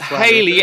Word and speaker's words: Halley: Didn't the Babylonians observe Halley's Comet and mark it? It's not Halley anyway. It's Halley. For Christ's sake, pronounce it properly.